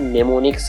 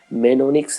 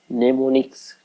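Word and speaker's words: mnemonics: एम को आपको silent करना है, नेमोनिक्स आपको स्टडी करना है, मेनोनिक्स नहीं, नेमोनिक्स, ठीक है।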